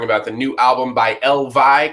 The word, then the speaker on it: EL VY: everyone at home um elv they say is pronounced like the plural form of Elvis and it is Matt